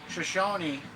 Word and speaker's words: Shoshone: Jarbridge monster refers to a creature from Shoshone Native American legend, Shoshone, that's how you say it, also known as the Twashahobbits.